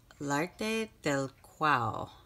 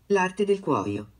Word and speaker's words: L'Arte del Cuoio: del Cuoio, Florence, and I definitely know that I'm pronouncing that wrong, so I had looked it up on Google Chrome to see how to pronounce this. L'arte del Cuoio. That's how it's pronounced.